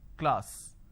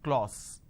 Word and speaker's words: class: K Le ah sir class this is how the pronunciation is but people make a mistake they say Le all so instead of saying class they end up pronouncing this as clause okay now why does